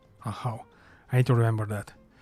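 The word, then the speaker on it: Ajaw: now to worry about is that how you pronounce it I thought I said ax or Ajax AA a how I need to remember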